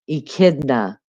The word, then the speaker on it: echidna: Echidna is how it's said.